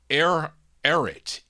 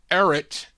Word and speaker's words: Ehret: His name is Bob I think it's pronounced Ehret.